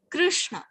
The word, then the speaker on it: Krishna: in sanskatam we say krishna this the this pronunciation is just between the ah and e krishna this is not